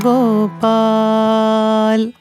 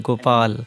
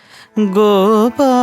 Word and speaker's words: Gopal: times when we sing Gopal, the la we miss to clearly pronounce. Yes. Gopal, and the la is never heard.